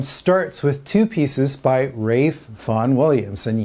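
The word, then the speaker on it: Ralph: with two pieces by rafe von williams and yes that is how you pronounce his first name don't ask me why now anybody that knows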